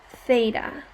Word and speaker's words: theta: case you haven't seen this before that is pronounced theta it's a greek that's a greek letter like